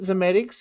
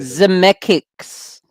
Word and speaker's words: Zemeckis: Contact, was that Robert Zemeckis who did it?